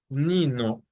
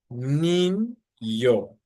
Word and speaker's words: Niño: So for example, this word for boy, it's not Nino, but Niño, Niño. That's how this letter, this specific letter is pronounced.